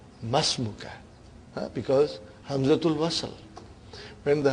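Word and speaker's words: ما اسمك: Masmuka. Remember, hamzatul wasal. It will be incorrect to say ma ismuka. You should say masmuka.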